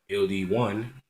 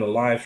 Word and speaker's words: LD1: LD1 or LD people pronounce it super wrong all the time. And I mean it's pretty it's pretty messed up to me, I guess. I mean, is my name that hard to pronounce? Like I was on a live stream and he said my name was Ali. Like I'll be there. I'll be back. No, it was L D1.